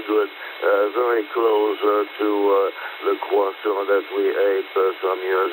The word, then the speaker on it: croissant: I pronounce it the proper way, croissant, and you probably know exactly what it is for breakfast in here.